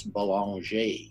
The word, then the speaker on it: Belanger: His name is Belanger. Is that pronounced correctly? That is, yeah. Great, good. I thought I got the French accent right there.